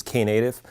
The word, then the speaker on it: Knative: just native and the case Island but properly pronounced is K native and how many of you have heard about K native more than just kind of a headliner okay